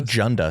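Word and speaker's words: Dzunda: But it was still Junda, but it was DZ U N Da, but still pronounced Junda, which is that would have been a nightmare.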